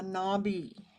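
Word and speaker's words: Nabis: He was a post-impressionist and founding member of the avant-garde group La Nabi, is how I think it's pronounced.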